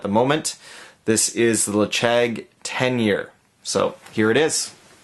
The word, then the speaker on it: Ledaig: This is the Ledaig 10-year. So here it is. The Ledaig 10-year. So, spelt L-E-D-A-I-G, but as far as I understand, the pronunciation is Ledaig.